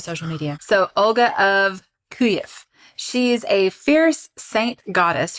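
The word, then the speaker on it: Kyiv: say this it's well kiev is how they say it in russian but there's a hang on the correct the correct way to pronounce it it is in ukrainian so when you hear kiev that is russian kuyev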